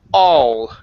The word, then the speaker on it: all: Next up is the word all. Give me a good L here instead of ow.